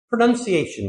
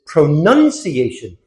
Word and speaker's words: pronunciation: It comes from the verb to pronounce, but it is pronunciation. So the word stress is very different.